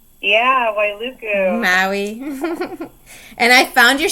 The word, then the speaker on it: Wailuku: Yeah, Wailuku.